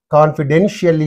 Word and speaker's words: confidentially: So, what is the syllable preceding the suffix means? Den. That's why confidentially.